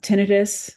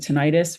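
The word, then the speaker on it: tinnitus: front or back um some people have tinius or some people pronounce it tentis ringing in the ears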